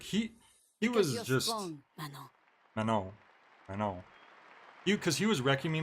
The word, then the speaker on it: Manon: It's Manon. Because in French, you don't pronounce the closing consonant in words. It's Manon.